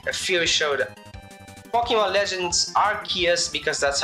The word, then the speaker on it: Arceus: Okay, a few showed Pokemon Legends Arceus, because that's how you pronounce it.